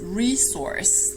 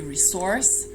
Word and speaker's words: resource: There's only one S, and it is pronounced S. So the pronunciation in American English is resource. That's the most common one. You can also stress the second syllable, the first one being the same. That would be resource. And in British English, the stress is always on the second syllable. So that would be resource or resource, which is also an option.